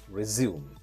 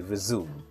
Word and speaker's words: resume: we say like we resume. In American pronunciation, we say the word resume. In British pronunciation, we say resume.